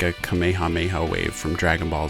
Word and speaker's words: Kamehameha: I've also learned that there's actually some debate over the correct way to pronounce Kamehameha the English dubs have done it differently over the years some have pronounced it as Kamehameha or Kamehameha and others have said Kamehameha apparently that is the more correct way to say it I'm sure I'm